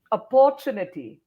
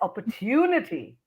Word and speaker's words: opportunity: A lot of people say opportunity, but it's opportunity. Hmm. So Hmm. tu goes up, tu, so opportunity.